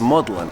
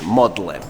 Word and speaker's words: Magdalen: in the Magdalene College which is actually pronounced as maudlin and that's because in the 15th century that was the way that Magdalene used to be pronounced as maudlin now the fun thing